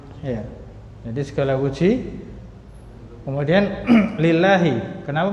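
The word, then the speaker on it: لله: Nah, lillahi kenapa bacanya di bawah lafzul jalannya itu kasroh? Karena dia tadi apa? Iya, karena huruf jar li. Jadi ini kemasukan huruf jar lam. Ya, maka jadilah lillahi. Nah, jadi bukan lillahu atau lillaha.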